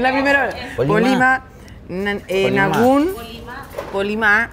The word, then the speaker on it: Polimá: Polimá, acento en la A.